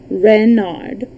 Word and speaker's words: Renard: is king renard iv renard with the accent on the ren what's wren ask button